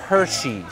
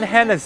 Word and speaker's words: Hershey: 哇、哦、，Han Hannes，他叫 Hershey's， Hershey，喂，很出名哎，你居然把它读成 Hannes，真的是没谁。